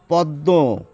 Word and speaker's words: পদ্ম: একইভাবে পদ্ম, এখানে একটি নাকি উচ্চারণ এসে যায়, সেই জন্য চন্দ্রবিন্দু দিয়ে প্রকাশ করা হয়।